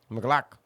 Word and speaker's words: McLaughlin: It's Jaleel not that hard, McLaughlin. It's just Glock. McLaughlin.